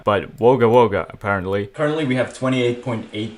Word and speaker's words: Wagga Wagga: apparently Wagga Wagga from last video is not pronounced Wagga Wagga but wogawoga apparently apparently we have 28.8 000 subscribers and